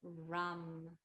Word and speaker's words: ram: So move your mind to this point in the body as we chant the seed syllable Ram, R like rain, Ram.